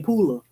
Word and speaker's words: Pooler: I'm So Country yeah you have to spell it p-o-o-l-e-r I know it sounds like I do say Pooler I do I say pool yeah but it's Pooler where are you from